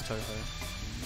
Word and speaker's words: Touhou: I call it Touhou sometimes for fun, but it is Touhou.